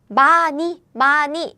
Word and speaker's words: 많이: It's because daran, this sound, Korean sound is very weak. So very often when it meets like not air blocking sound, nasal sound or this iung sound, this pronunciation is gone, disappears.